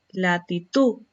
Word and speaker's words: latitud: Mujer, volcán, latitud. Son agudas porque presentan el acento en la última sílaba.